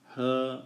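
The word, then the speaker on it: 喝: I made just now yes this word is pronounced her it means drink drink under the Sun is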